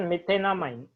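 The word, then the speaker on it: methanamine: मीथेन इसको directly जोड़ दो मीथेन अमाइन मिथेनामाइन pronunciation मिथेनामाइन मीथेन plus अमाइन मिथेनामाइन suppose मेरे पास है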